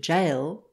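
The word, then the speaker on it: gaol: the central dialects and our word jail g-a-o-l has preserved its northern spelling while it is pronounced and sometimes written with the j of parisian french when in the year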